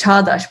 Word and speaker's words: Çağdaş: So it's Çağdaş, but written it's sort of like Kagdas.